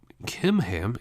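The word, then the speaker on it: Chimham: they head to Guth kimam so in English it's with a CH but the Hebrew language doesn't have a a CH sound like we did so he pronounced those like a k kimam is actually a reference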